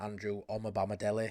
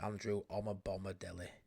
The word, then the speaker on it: Omobamidele: It's come from numerous sources that Leeds are seriously looking at Andrew Omobamidele. I think that's the first time I've ever said it properly. Andrew Omobamidele. Said it wrong second time.